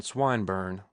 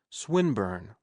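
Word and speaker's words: Swinburne: "This man, Swineburn," he began, attempting to put his plan into execution, and pronouncing the I long. "Who?" Swinburn, he repeated with the same misprononunciation. The poet. Swinburn, she corrected.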